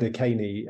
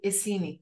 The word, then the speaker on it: Iceni: And so you say Iceni. No, say it again. Iceni. Iceni. Yeah. Okay. Yeah. And I've only ever read the words with my, like, quietly in my head. Yeah. So I'm pronouncing it Akeni without knowing what I'm saying.